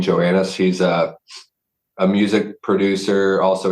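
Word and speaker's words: Johannes: Also, Elaine, I think his last name's pronounced Joannis. Elaine Joannis.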